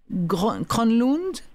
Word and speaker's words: Kronlund: « L'homme aux mille visages » de Sonia Kronlund. C'est bien comme ça qu'on prononce, Hermine ?